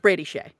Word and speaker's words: Skjei: No, that's pronounced Brady Shea.